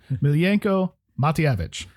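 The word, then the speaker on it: Miljenko Matijevic: I actually wrote a phonetic pronouncing. Miljenko Matyevich.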